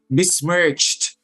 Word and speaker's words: besmirch: not an sh h and then ch at the end as well yes mismerged is not also an sh it's just a ch i'm set up let's